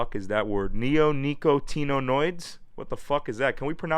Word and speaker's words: neonicotinoid: what the is that word neonicotinoids what the is that can we pronounce this word neonicoto there's supposed to be